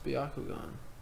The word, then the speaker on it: Byakugan: gone game Byakugan if you were music to Byakugan that's how they say it in the show